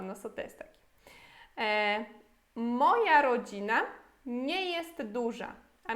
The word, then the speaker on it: moja: se pronuncia as coisas, para você não ler moja aqui, né? É moja em polonês.